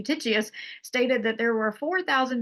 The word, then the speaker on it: Eutychius: Now, Eutychius, let me say it correctly, Eutychius stated that there were 4,000 Jews at Tyre